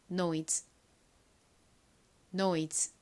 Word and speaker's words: noise: 마지막으로 z 소리 나는 se를 써주시면 완성입니다. 발음해 볼게요. noise, noise.